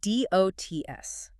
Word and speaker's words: DOTS: It is called DOTS, Digital Optical Technology System. Remember, pronounced dots.